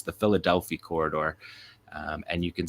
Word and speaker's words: Philadelphi: an Israeli operation name um it's obviously often mispronounced as Philadelphia Philadelphia Corridor but it's the Philadelphia Corridor um and you can see from the